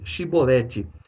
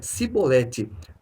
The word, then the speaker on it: Chibolete: não lhe respondiam então dizem chibolete ele dizia sebolete porque não conseguia pronunciar de outro modo então o agarravam e